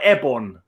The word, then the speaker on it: Eibon: Well, is it Eibon or Ebon? How would you Eibon. pronounce it? Eibon. Eibon, Curse of Eibon. Yeah. I can't remember. I said it when I played it on the show. I thought I said Eibon, which is Lovecraftian, which is like why